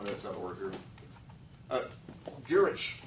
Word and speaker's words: Gwrych: Girich Castle, and if you're having trouble with your Welsh, that's spelled Gwrych. Gwrych.